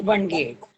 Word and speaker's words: Bhanage: So this is Nilesh Bange, who is Bange, right? I'm pronouncing your name. Bange. Huh? That's Bange.